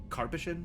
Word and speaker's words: Karpyshyn: Karpyshyn, probably? Put the emphasis on the first syllable.